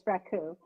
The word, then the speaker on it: raku: Yeah, that's raku.